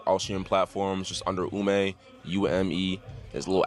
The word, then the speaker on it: Ume: find me Justin Ume, Justin, and then Spell it Ume, out.